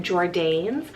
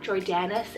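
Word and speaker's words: Jordanes: so j-o-r-d-a-n-e-s jordanis or this one you could pronounce it as like jordan's but jordanis is kind of the proper pronunciation there it's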